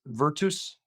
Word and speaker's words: virtus: The correct way of pronouncing this, Pat, is virtus.